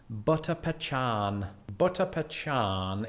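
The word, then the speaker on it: butter pecan: cars and finally and there's really only one way to pronounce this butter pachan is without doubt my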